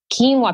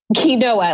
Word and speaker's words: quinoa: nobody knew how to work with kale and Keen while people didn't even know how to pronounce quinoa let alone cook with it or eat it and so quinoa like quinoa Queen what you know you know